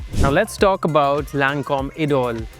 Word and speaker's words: Idôle: Now let's talk about Lancôme Idôle. It's French, so that is how you pronounce it.